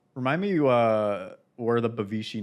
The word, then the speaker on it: Bavishi: with it yeah I said it right right bavishi yes yeah some people would be like bavishi